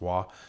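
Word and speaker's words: は: You write it with a ha, but it's pronounced wa.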